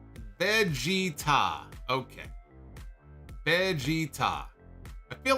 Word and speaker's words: Vegeta: no ah oh man he says Vegeta is pro is pronounced Vegeta okay Vegeta I feel